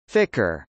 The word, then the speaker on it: FCR: now is called the Flight Control Room (FCR), pronounced Ficker.